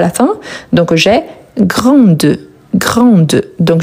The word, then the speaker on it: grande: Donc j'ai grande. Grande donc je vais bien prononcer le D et pas les E à la fin parce que les E il n'est pas accentué.